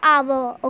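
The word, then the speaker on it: hour: It gives a consonant, sorry, a vowel sound, because H is silent and we pronounce it like a आवर.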